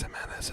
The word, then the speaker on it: Jimenez: And his name is Jimenez, but it's spelled with a G, you see? But it's pronounced like, him.